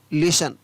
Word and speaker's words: listen: Next है, अगर शब्द के अंत में STLE या STEN हो, या तो हो STLE या हो STEN, तो वहाँ पर भी टी का उच्चारण नहीं किया जाता है।